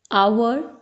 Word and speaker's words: hour: Enemy, enemy, umbrella, a, hour, honest. These two are exceptions because here H is silent and apple, a sound is coming.